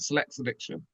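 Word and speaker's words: Sillexa Diction: I'm saying it right, Select's Addiction.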